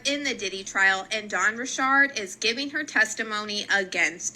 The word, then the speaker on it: Dawn Richard: And before we get into Dawn Richard's testimony, I have to show you guys how you actually pronounce her name, because if I get one